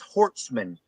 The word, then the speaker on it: Hortsman: yep met I think way you say it is hortsman is their last name hortsman yeah don't tell